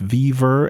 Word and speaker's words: WeVR: He's of course the co-creator of VRML back in 93, 94, and he has a new job at WeVR, or I think it's pronounced Viver, and they're working with the HTC Vive.